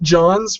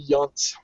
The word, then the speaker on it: Jahns: I do pronounce it Jahns, but if you're gonna go with the proper German, you're right. It would be Jahns.